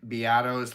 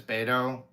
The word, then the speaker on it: Beato: I was pronouncing Rick Beato's last name as Beto, like the Clint Eastwood character from Any Which Way But Loose.